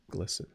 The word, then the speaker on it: glisten: to say uh but rhymes with listen like you can listen and a leaf can glisten to buzz so I